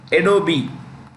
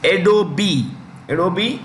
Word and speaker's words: Adobe: He is CEO, President, and chairman of Adobe. The E is pronounced. It's Adobe Systems.